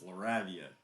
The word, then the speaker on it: Lavia: It's not Laredo, it's Lavia.